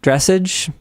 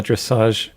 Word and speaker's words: dressage: one of the Luke is not up on the dressage discourse. Okay, see, I think it should be pronounced just dressage, but people keep saying dressage, so I'm like, what? Isn't it French?